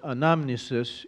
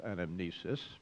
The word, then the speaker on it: anamnesis: on Remembrance or Memorial called anamnisis in Greek constantly mispronounced anamnesis in the Greek New